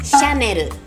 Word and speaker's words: Chanel: 个是大家都很爱的。Chanel， Chanel， Chanel， Chanel，不会被拉走。Chanel， Chanel， Chanel。